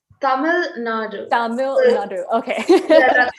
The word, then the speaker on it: Tamil Nadu: Am I pronouncing correctly? Tamil Nadu, is that? Yes, it's Tamil Nadu.